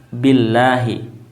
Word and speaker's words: Billahi: kasrah ya Bi ya maka pengucapan lafaz jalalah yakni lafaz asma Allah adalah dengan membacanya tarqik ya tipis Billahi ya artinya adalah tidak tafhim tidak tebal ya bukan Allah ya bukan Allah tapi Illah ya Jadi ada dua ee